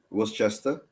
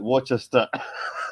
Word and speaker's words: Worcester: And basically, incidentally, how would you pronounce that, Eugene? Worcester.